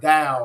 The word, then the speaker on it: Tao: say the word butter you know butter is B TT R but we don't say butter right we say butter so it's got a D sound so same thing with Dow or dosm so literally means the